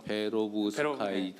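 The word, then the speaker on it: 페로브스카이트: 페오브 스카이 이름이 좀 생소하실 수 있는데 그 외우는데 잘 안 외우시더라고. 네. 요거를 좀 예. 자주 이야기하다 보면은 잘 어 발음할 수 있습니다. 그래서 페오브 스카이트 페오브 스카이트입니다.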